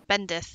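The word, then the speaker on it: bendith: don't know actually bendi he asked me bendi bendi bendi bendi b e n d i t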